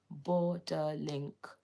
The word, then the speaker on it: Borderlink: Japan it is called borderlink borderlink three syllables b o r d e r